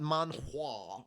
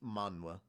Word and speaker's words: manhwa: It's not manhwa. It's manhwa. Just think of it as like the H is silent, but that's how you spell it.